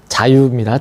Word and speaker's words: 자유: 발음이 자유입니다. 좌유가 아니고.